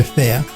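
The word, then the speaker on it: Phare: They see the PH at the beginning and yeah, that confuses them. But it's just like pronounced like spelled F-A-R-E, so fair. Just think of the PH as an F.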